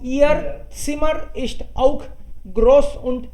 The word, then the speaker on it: Ihr: ई हर बोल दिया आपने, बीच में एच आता है तो साइलेंट रहता है, बीच में एच आई तो उसको पढ़ते नहीं है। सो ईयर सिमर इस्ट आउक ग्रोस